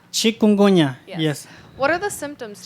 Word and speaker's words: chikungunya: I forgot the pronunciation of the disease you talked about. Something. What? Chikungunya. Chikungunya, yes.